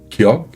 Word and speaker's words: ㄱ: Ky se prononce entre G et K. Léger, sans souffle, sans tension. La langue remonte vers l'arrière du palais et se relâche doucement. Pas d'énergie excessive, juste un son neutre. Un début de mot Kyok